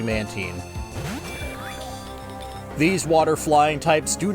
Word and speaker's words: Mantine: Alright, Mantine is its evolution, which I always mispronounce as Mantine, but I think is actually Mantine.